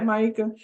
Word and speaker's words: Maika: Yeah, Maika.